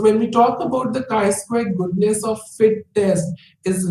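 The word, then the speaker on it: chi-square: be applied K Square test is written as Kai square and is pronounced Kai squar that is I Square it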